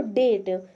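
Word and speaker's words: date: ये जो लास्ट में इ आया है, इसको साइलेंट कर देंगे। तो इसको पढ़ते हैं हम लोग डेट मतलब होता है तारीख।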